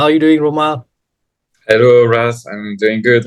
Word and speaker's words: Romain: How are you doing, Romain?